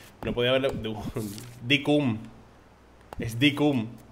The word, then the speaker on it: Dinkum: Decium. ¿Cómo? Cada día lo pronuncio diferente. Es que vaya nombre le ha puesto, chaval. No podía haberlo... Decum. Es Decum. O sea, pronuncia cum.